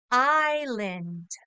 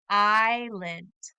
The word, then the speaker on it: island: the word land but when we pronounce this in English the S is silent so the word becomes island island you try it